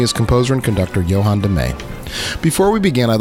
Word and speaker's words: De Meij: Most people say Meij or Meiji, but it's De Meij, and you got it right.